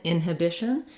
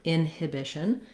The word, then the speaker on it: inhibition: the n sound inhibition another thing you'll notice in inhibition is that i can say this h sound inhibition you may hear inhibition inhibition that that h drops out a little bit in which case people are using definitely more of a schwa in a inhibition she showed a lot